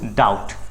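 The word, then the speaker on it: doubt: डू you have any डाउट अगर आपको डाउट पूछना है ठीक है बी साइलेंट होगा सो डू यू हैव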